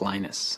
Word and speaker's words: Linus: speak finnish it's linos when i speak english it's linus and i really don't care how people pronounce my name but linux is always